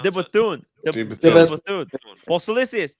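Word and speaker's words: De Bethune: How do you pronounce The it? Bethune.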